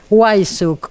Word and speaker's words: Wajszczuk: No, a vos porque yo tenía entendido que la W se pronunciaba como B. Sí, en realidad si vas a Polonia es Weiss. B. Sí, no tenías. Pero no. Pero acá se argentinizó.